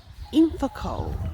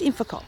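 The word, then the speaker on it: Ilfracombe: everyone we are in infacoal no yes infocol I think that's how you say it it's a Town only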